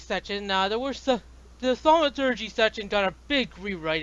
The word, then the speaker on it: thaumaturgy: A lot of Yeah, clarifications and then a whole alternate quick play system, basically, with cheer saving thaumaturgy. yeah. Am I pronouncing that right?